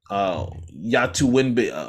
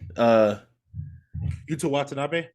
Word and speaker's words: Yuta Watanabe: I feel like Seth Curry underutilized, Yatu Winbe, how you say his name? Yuta Watanabe. Yuta Watanabe, who was leading the league in 3-point percentage